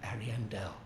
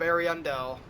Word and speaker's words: Ariandel: out of the cave we enter the painted world of ariandel at least that's how the npcs say it but i've always pronounced it ariandel um yep this is